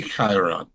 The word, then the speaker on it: Chiron: It's the company that invented them is named after the ancient Greek centaur, whose name is Chiron. Right. Chiron. Yep. In English, it's pronounced Chiron.